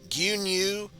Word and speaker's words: 牛乳: Which is interesting because, while I'm sure this is pretty much the traditional way to say milk, gyunyu, some people might pronounce it in katakana, miruku. So, take it for what you will. Either miruku or gyunyu.